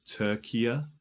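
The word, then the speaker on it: Türkiye: They changed it to Turkiya. Turkiya, I think it's pronounced.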